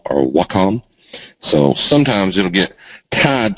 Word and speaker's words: Wacom: A lot of people ask me what little drawy thing I use, and here's how you pronounce it if you that's what it looks like, Wacom or Wacom.